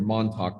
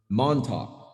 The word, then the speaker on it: Montauk: was just about to finish the manuscript for Montauk Revisited. Before I called the book complete, I wanted to go to the library and check the definition of the word Montauk.